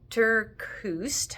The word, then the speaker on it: TerKeurst: I've been reading Uninvited by Lisa Terkeurst, I think is how you say her name, spelled Lysa.